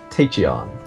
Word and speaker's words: Tachyon: I'm playing Super Scientific Tachyon.